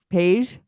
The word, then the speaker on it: Paige: Paige. Paige comes over. Like beige.